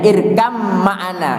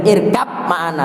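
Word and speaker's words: ارْكَبْ مَعَنَا: Itu bacanya Pak, kan irkab ma'ana ya. Tapi karena Pak ketemu mim, itu idgham kepada mimnya, bacanya irkam ma'ana, enggak boleh irkab ma'ana, salah nggih.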